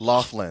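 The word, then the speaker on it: Loughlin: Laughlin.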